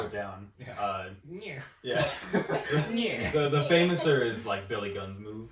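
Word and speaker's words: Fameasser: The famouser is Billy Gunn's move. Fame-asser. Yeah. That's what he calls it in AEW, is the fame-asser. It's literally fame-ass-e. I know that's how it's spelled, but I always heard it say...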